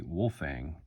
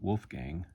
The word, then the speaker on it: Wolfang: I gotta point out I was getting the name wrong it's actually wolfang not Wolfgang I wolf Fang just w-o-l-f-a-n-g so yeah if you're looking